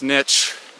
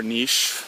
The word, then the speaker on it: niche: And this niche, or niche, however you want to pronounce it, is in some ways